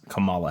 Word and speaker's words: Kamala: related to political figures I believe her pronunciation is Camala Harris uh but yeah the